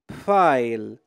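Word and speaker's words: Pfeil: اذا ب مع الاف الحرفان ب اف تنطق بف اذا بف اذا مثل حرف الباء والفاء مع بعضهم باللغه العربيه بف بناخذ امثله لتتوضح الفكره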